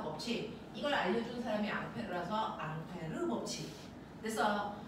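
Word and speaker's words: Ampère: 이걸 알려준 사람이 앙페르아서 앙페르 법칙 됐어 앙페르 사람은 프랑스 사람이니까 앙페르고 읽으면 되는데 그걸 미국놈들이 뭐라고 읽었어 어라고 거죠 자 그래서 이게 전류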